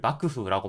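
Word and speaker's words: 幕府: 용어로 차용해서 쓰고 있어요 이때의 음독은 바크가 됩니다 막부를 바크 후라고 발음하다이 장막 막자 막부 아는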